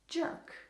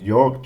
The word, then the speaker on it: Jörg: it pretty funny, as they would pronounce it jerk. Jerk. I was trying to think of something like, what could, like, they say it differently as. So, jerk. York, jerk. Okay.